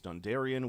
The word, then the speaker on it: Dondarrion: Note also this pavilion flying the ins house Dondarion which will be That's how you pronounce that bit.